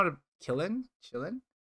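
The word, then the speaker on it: Qilin: how to kill him chillin i think it's pronounced chillin because q i in chinese like it's like yeah it's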